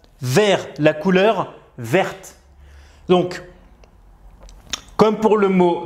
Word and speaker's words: verte: Donc, au masculin, on va écrire le T, mais on ne va pas le prononcer. Et au féminin, on va rajouter un E, et là, le T, on va le prononcer.